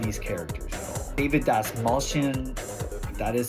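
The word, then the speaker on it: Dastmalchian: about much of these characters at all David Das malan that is how you say his last name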